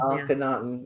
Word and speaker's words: Akhenaten: Akhenaten.